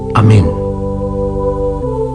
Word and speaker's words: Amén: palabra concisa y lacónica apenas dos sílabas cuando se pronuncia con dignidad y fuerza queda resonando en el ambiente como un son de paz o un sonido litúrgico este Eco persistente del Amén ralla limpiamente la vibración se debe a su final tónico acentuado y a la consonante nasal con que acaba es